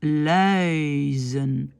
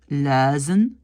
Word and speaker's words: luizen: Normalement, on doit dire thuis. On doit dire luizen, kuisen. Mais beaucoup de flamands ne disent pas ce petit i et donc disent thuis, luizen, kuisen.